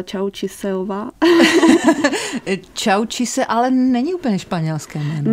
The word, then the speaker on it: Tchawou Tchuisseu: Tak moje příjmení se vyslovuje Čaučíse. Čaučíse.